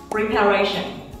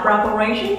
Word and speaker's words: preparation: Amazing, đó là preparation hay là preparation. Mình có hai cách đọc, preparation hay là preparation các bạn.